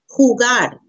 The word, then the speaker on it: jugar: e Jota Jota the J in Spanish makes it H sound Jota Jota jugar Jota gah the letter